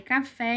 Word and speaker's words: café: duas partes só que as partes mais forte de café café qual é a babá mais forte de café qual é a sílaba tônica café vocês concordam comigo que é o fé então a sílaba mais forte de café é a última vamos pra próxima palavra